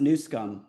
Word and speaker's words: Newsom: It's pronounced Newsom.